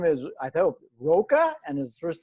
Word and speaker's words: Roca: raining there his last name is i thought roca and his first name is is that yes pronounced yes sir it is that's correct yay